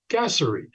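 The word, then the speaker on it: gasseri: looked this up and the proper pronunciation for gaseri is gassery so now you know everyone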